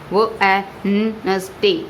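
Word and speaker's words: Wednesday: वो नस डे, डी is silent, D is silent.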